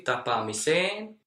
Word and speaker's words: tapaamiseen: When you are not afraid of pronouncing 3 vowels, you will pronounce the correct number of vowels very easily, tapaamiseen.